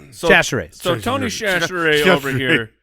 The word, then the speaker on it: Chachere's: think I butchered it real bad in the beginning because I said it too slow. You need to say it quick. Chachere's.